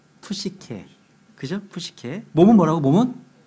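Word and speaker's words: ψυχή: 푸시케.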